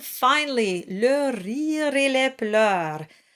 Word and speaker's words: pleurs: And finally, le rire et les pleurs. Not much new here. Pleurs rhymes with douleur and all the other sounds you've seen already.